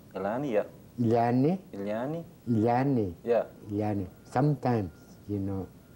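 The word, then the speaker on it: ilani: l a n i is that how you pronounce itani yeah iani yeah sometimes you know umani means it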